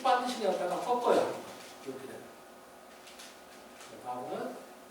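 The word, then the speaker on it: וָו: 그 다음에 6번에 바브는 W로 보통 영어를 표기하는데 이게 영어의 W가 아니라 독일어의 W라고 그러죠. 그래서 영어로는 V자처럼 발음합니다.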